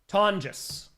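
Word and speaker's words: Tonges: Tongis. Tongis. Tis. Yeah. Tongis. Tongis rhymes with John.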